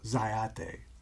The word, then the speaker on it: Zyathé: setting but I want to talk about this dyad day I might pronounce that right that's correct all right a